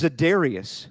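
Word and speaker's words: Za'Darius: Zad, but it's Zadarius. Zadarius. For how much you give me for mispronouncing guys names? The guy's name is Zadarius. You'd think if you were saying it though, it'd be Satarius.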